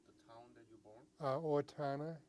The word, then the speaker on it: Owatonna: Owatonna. Otana. Owatonna. Could you spell it?